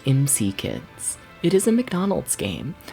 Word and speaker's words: M.C. Kids: we're going to be playing MC kids or Mick kids that's what I keep wanting to call it because that's like a better title but like in the manual they explicitly state that it is pronounced MC kids it is a McDonald's game but you know